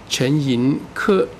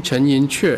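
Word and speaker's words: 陈寅恪: The correct pronunciation by the dictionary, he should be Chen Yin-ke, because his last name, I said Chen Yin-che. But everybody call him Chen Yin-che.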